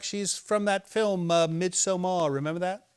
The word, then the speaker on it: Midsommar: No, it's called Midsommar. Very well. Midsummer. Midsummer. Is that what it means? Yes, Why don't they just say bloody midsummer? they do. No, they say Midsommar. It's spelled entirely different.